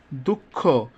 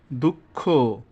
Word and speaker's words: দুঃখ: প্রিয়তম একইভাবে প্রিয়তম তো তিন নম্বরে যে নিয়মটি আছে সেটি হচ্ছে অন্ত অ এর পূর্বে অনুস্বার বিসর্গ থাকলে অ এর উচ্চারণ ও এর মত হবে যেমন অংশ অন্ত অ এর পূর্বে কি আছে অনুস্বার আছে দুঃখ অন্ত অ এর পূর্বে বিসর্গ আছে তাহলে কি হবে ও এর মত হয়ে যাবে অংশ দুঃখ একইভাবে বংশ